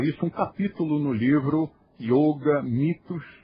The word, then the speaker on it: Yôga: Um dos mitos é o de que yoga deva se escrever com i ou pronunciar com o aberto ou no feminino, no gênero feminino.